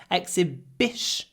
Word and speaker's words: exhibition: before unvoiced consonants period here we have sh shun exhibition clip it exhibition and if you want to say exhibition with stress we do a pause before the stressed syllable exose bition exhibition it's a great exhibition with a pause not but exhibition Exhibition